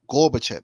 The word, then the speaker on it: Gorbachev: Is that how you Gorbachev. pronounce it? Right, Gorbachev, NATO expansion.